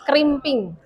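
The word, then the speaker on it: crimping: Kriming tulisannya tapi bacanya krimping.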